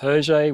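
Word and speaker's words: Hergé: remain whose uh his his nom de plume is herjay which is the letters rg which is his his initials backwards of his name uh pronounced in french um so he's been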